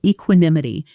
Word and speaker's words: equanimity: She handled the crisis with remarkable equanimity, never once raising her voice. Pronunciation: e-kwə-nim-i-tē equanimity Sentence: He responded to the criticism with surprising equanimity.